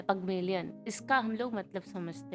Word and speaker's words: Pygmalion: पगमेलियन कह लो या पिग्मेलियन कह लो, पिग्मेलियन एक्चुअली रॉन्ग है। गूगल पे जाके प्रोनाउंसिएशन चेक कर लेना। तो मोस्टली जो है वो थोड़ा सा पगमेलियन होता है, पगमेलियन।